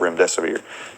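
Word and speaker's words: Remdesivir: and the truth about rim desier and even coined the phrase if you can't remember what the the name is just it rhymes with run death is near and that has literally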